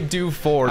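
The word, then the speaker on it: Dewford: how it's it's say do Ford say do Ford hey it's f o r d Ford tough man F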